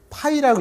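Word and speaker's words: φ: 이걸 파이라고 읽어요. 초코파이 할 때 파이.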